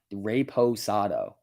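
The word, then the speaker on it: reposado: pronounced anejo not brown it's actually pronounced rapist rape raposado i think is what it's called try class azul all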